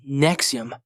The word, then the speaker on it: NXIVM: on the list nexi nxivm pronounced Nexium was a controversial organization